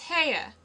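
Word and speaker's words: Haigha: His name is Ha. He pronounced it so as to rhyme with mayor.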